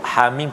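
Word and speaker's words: حم: Hamim kita baca ha 2 harakat, mim 6 harakat, mad lazim harfi mukhaffaf.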